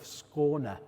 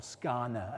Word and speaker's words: Skåne: in the region of Skåne, as the Swedes say, or Skåne, as we say, as we Brits say.